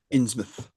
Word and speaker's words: Innsmouth: Innsmouth. Innsmouth. Innsmouth. Yeah, because we have there's a town called Sidmouth down on the south coast.